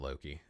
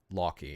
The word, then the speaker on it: Loki: you can pronounce it Loki but Loy it would be how you would say it in Icelandic um so I like